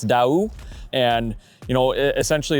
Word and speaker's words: Daoust: Well, Chase, quite honestly, most people in America would probably call it Dowst or Dowst. Um, our our slogan is actually going to be say it your way. We don't care how you say it, just as long as you know what the company is and everything, but it's Dau.